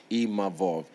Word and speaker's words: Imavov: And I'm grateful to even Nassourdine Imavov, sorry, I learned how to say his name properly, Imavov, because, we shot a fair one, he beat me.